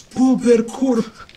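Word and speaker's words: bóbr kurwa: And how you say it is Bobber curva.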